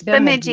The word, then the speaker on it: Bemidji: Is that how you pronounce that? Bemidji? It's Sorry, Bemidji. Yep, it's Bemidji.